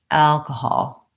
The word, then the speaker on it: alcohol: The vowel in the stressed syllable al is the vowel a, like in cat and black. And there's a man's name in American English, Al, and it sounds like that.